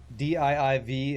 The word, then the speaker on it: DIIV: DIIV is a band from New York City and it's pronounced dive.